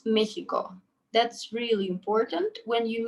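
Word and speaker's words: México: mexico in spanish it's mexico that's really important when you meet a person who is mexican you call him mexicano so you don't pronounce this x as x you pronounce it as he i think for for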